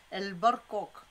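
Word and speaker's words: برقوق: En plus, il faut rouler le R, les amis. El barcoq.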